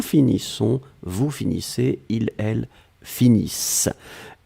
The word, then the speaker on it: finissent: Nous finissons, vous finissez, il, elle finissent. ISSENT, mais on ne les prononce pas, donc le ENT comme d'habitude.